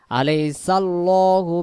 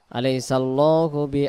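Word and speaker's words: أَلَيْسَ اللَّهُ: তৈয়ার করেন আল্লাহ শব্দে এই লাম অক্ষরটাকে লাম জবর ল ধরে পড়তে হয় আলাইসাল্লাহু বি আহকামিল বিহ বাংলাতে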